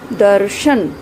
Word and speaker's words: दर्शन: आप देखें, शब्द को बोलकर देखें। दर्शन, दर्शन। र का उच्चारण कहाँ हो रहा है? द और श के बीच में, जबकि लगा किसके ऊपर हुआ है? ये श के ऊपर लगा हुआ है।